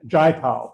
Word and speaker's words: Jayapal: Beth and I attended a luncheon recently with Congresswoman, I can never remember how to pronounce her name, Jayapal, thank you.